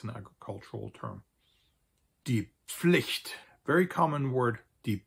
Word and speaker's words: Pflicht: Die Pflicht, very common word, die Pflicht, used to describe any kind of duty or responsibility that a person has.